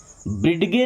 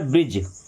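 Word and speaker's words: bridge: ब्रिडगे नहीं पढ़ना है। क्या पढ़ना है? ब्रिज।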